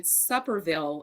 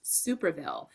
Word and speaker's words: Superville: And he said he'll take a question from Supperville of AP. Now, you all know my name is pronounced Superville.